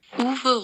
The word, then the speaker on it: Uwe: everybody starts calling UWE, which in German, a W is pronounced like a V, when they start calling Uwe, Uwe, or Uwe.